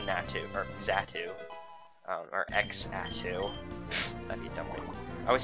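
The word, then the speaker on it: Xatu: or zatu um or X ATU that'd be dumb I always say zatu because I think it's the correct way to pronounce it because more often than not the x is pronounced as z um in my um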